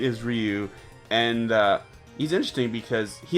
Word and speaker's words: Ryu: were you ever like it's raw you idiot like no it's Ryu and now they can